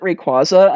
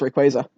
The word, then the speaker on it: Rayquaza: pronounced both ways well everyone pronounced it rayquaza until the deoxys movie came out and then we realized it was rayquaza well the quasar so yeah i've always